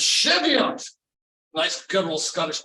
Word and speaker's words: Cheviot: you moved up settled a little town called shavoy excuse me I mispronounced that you know so I said that's